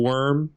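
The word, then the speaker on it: wyrm: And there's this cool picture of an ulm worm, W-Y-R-M. Worm. As in the type of dragon.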